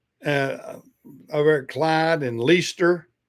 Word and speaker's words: Leicester: Uh, people, yeah, it looks like Leicester or Lee Kester or something, but everybody up there, from what I've been told, they call it Leicester.